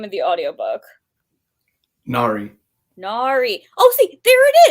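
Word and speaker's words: Nahri: This whole time I was trying to do some nonsense. I was trying to make it a short A, like I was white, like Nari.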